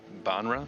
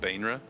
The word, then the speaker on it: Baenre: That looks like Banra, Bainra. Banra, Bainra. I I think it's just like the accent of it. It's Baenre, Banra, Bainra. People say various things.